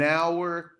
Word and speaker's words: hour: Que o honor ali, ó, o H, ele é silent, a gente não pronuncia, tá? Então, olha lá, an hour, an honor.